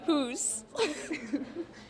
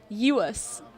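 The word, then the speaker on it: Djoos: Christian Hoos. It's actually pretty close. It's Christian Uus. It's pronounced like a Y.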